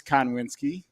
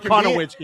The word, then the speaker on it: Konwinski: My name is Konwinski. Yeah, there's no I. I added one. I've been calling him Konowinski.